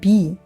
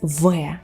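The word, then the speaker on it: В: And what looks like B is not B, it's V. V.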